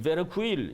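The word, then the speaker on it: Verkuyl: 버카일, 화란에서는 베르쿠일 이렇게 이제 발음하기도 하는데 현대 선교 신학에서 굉장히 중요한 공헌을 하신 이 현대 선교 신학이라는 책을 저술한 분인데 이분은 뭐라고 얘기하느냐?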